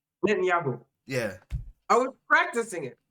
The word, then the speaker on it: Netanyahu: Mom, but if you want to know how to pronounce it, it's like a net, and then it's Yahoo, like the website. Netanyahu.